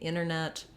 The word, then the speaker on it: internet: But that dropping of the T happens more in words like internet. We might say internet, or winter, we might say winter.